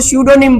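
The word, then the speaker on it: pseudonym: है वैसे ही इसमें पी साइलेंट है और इसको सूडो निम बोलते हैं हम ठीक है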